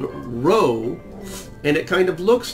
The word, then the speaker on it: rho: It's called rho, and it kind of looks like a capital R with the leg missing.